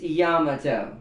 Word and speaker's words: Yamato: you're saying gamut oh and that's also mispronounced people have heard people say Yamato Yamato it's Yamato that is the original and I can pull